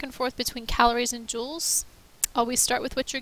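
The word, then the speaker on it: joule: feel cold to you the units for heat are called Jewels but it's spelled differently from like a diamond Jewel it's named after a scientist and then sometimes we'll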